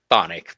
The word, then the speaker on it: chthonic: Yeah, he's going to have chthonic tendencies. Chthonic, but CHT. CTH. Chthonic, It's yeah. chthonic, but it's spelled chthonic.